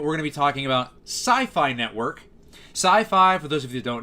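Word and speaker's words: Syfy: even not relating to, sci-fi, science fiction, right? Even though it's spelled S-Y-F-Y, it's supposed to be a pun on science fiction.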